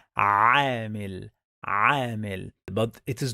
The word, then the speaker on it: عامل: For example, the word عامل, some people, they pronounce it like عامل. The correct pronunciation is عامل.